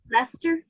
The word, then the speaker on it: Leicester: it's Leicester. Leicester, like Okay. Lester.